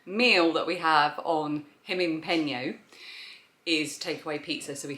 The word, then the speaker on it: Gimingpeno: And for some reason we then made the G into an H when we pronounce it. Gimingpeno.